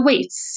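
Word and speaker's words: Weitz: with Michael brener and David whites is it pronounced whites uh Whits yes Whits okay and David whites um you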